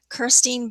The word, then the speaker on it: Kirstein: wealth of resources that are available at the Kirstein Business Library and Innovation Center. Am I pronouncing it correctly?